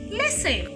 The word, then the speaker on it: listen: And letter T is silent in the word listen. Some people make the mistake of pronouncing this word as listen. No. Letter T is silent in the word listen. You cannot say listen.